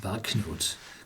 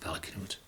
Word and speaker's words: Valknut: I think it's pronounced Valknut. Knut is a Nordic name, and Valkyrie, Valknut, it should be pronounced Valknut.